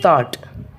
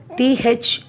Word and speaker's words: thought: And the G-H in thought. T-H-O-U-G-H-T. Here we won't give the special pronouns to G-H. Simply we say thought.